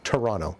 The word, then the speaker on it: Toronto: That's just how Torontonians pronounce the name of our city, Toronto. The second T, that's just for tourists.